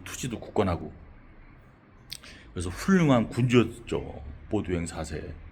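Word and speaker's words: Baudouin IV: 보두행 사세라고. 좀 프랑스 이름 같은데 이거 열 영어로 하면 볼드윈이에요. 볼드윈. 영어 이름은 볼드윈 있잖아요. 근데이 프랑스식 발음으로 보드 사라고 보통 발음을 하죠. 보도행 사세.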